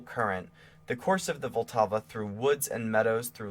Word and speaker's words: Vltava: In his own words, Smetana described the work this way, and he's saying Vltava for Moldau, because that's how you say it in that language.